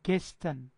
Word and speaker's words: gestern: gestern. gestern. gestern یعنې تېرې ورځ ته چی وایي؟ gestern. د ار ډېر کم تلفظ کېږي. gestern. بعضې gestern وایي. هسې صحیح نه تلفظ کېږي. د ار به ډېر کمزوری.